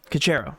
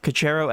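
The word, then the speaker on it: Caceres: How do you pronounce his last name? Cacero. Cacero at 19.7% ownership, which is nearly half.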